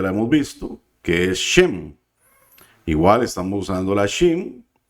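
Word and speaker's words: שם: Luego tenemos la siguiente palabra, que también ya la hemos visto, que es Shem. Igual estamos usando la Shem. Estamos usando esta puntuación que nos hace una vocal E.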